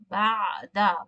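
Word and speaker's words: بعد: So ba'da is looks similar to a noun as ba'da with the light dal. So this is a zarf known as after, has a meaning after, and ba'da with a heavy dad means some.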